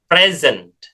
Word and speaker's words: present: Jadi kalau hadiah atau kata benda ya, ini dibacanya present ya, pakai Z ya, suara S ini jadi Z. Present ya. Selesaikan di konsonan terakhir kalau di bahasa Inggris ya. Jangan present tetapi present ya ada t-nya gitu dikejar suara T-nya.